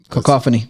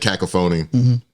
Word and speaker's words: cacophony: um and I think I pronounced the word wrong cacophony cacophony right yeah you know so I said cacaphony uh in a room